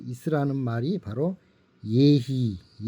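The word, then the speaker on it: יְהִי: 그 있으라는 말이 바로 예히 이렇게 쓰고 예히라고 읽습니다.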